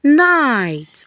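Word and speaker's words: knight: The silent K, when you see K and N together, it's going to take the sound of letter N, while the K is silent. The kind night.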